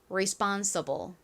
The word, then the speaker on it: responsible: 같이 발음해 볼게요. 듣고 따라해 보세요. 한번 대볼게요. responsible.